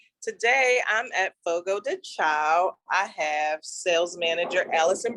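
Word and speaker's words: Fogo de Chão: Fogo de Chao is it's Portuguese and it means fire on the ground.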